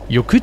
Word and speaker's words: Jökull: Jökull bedeutet übrigens Gletscher und wird mit 2 L am Ende geschrieben, die aber wie ein T und ein stummes H ausgesprochen werden.